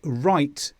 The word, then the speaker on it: write: W before R. Wrong, rap, right. My answer was wrong. It's cold, wrap up warm. Please write me a letter. So here we just pronounce the R, we don't pronounce the W.